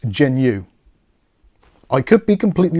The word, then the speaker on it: Jginyue: of this one so I'm of the opinion that the J at the start of this is silent so it's just pronounced genu I could be completely